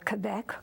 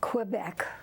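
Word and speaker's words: Québec: lived in Canada uh Quebec Quebec I use the fr the French pronunciation and uh then we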